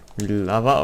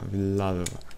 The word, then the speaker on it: Villalva: Dalej jest Villava, okej. Okay. Nie, to inaczej się pisze. Villalva. Jeszcze raz, Villalva. Pierwszy raz źle wymawiałem, okej, okay, jest Villalva.